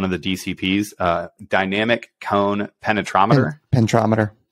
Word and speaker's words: penetrometer: They're running, you know, one of the DCPs, dynamic cone penetrometer. Penetrometer. Okay. I always add an extra syllable in there.